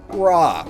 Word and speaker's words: Ra: course loved the sun raw some say it's pronounced Ray and I think that's actually more correct I didn't look it